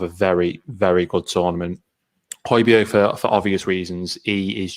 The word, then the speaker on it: Højbjerg: Well, let's say that again, Højbjerg.